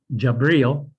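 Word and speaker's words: جبريل: Gabriel was an angel, pronounced in Arabic, Jabril, who brought the revelations to Muhammad.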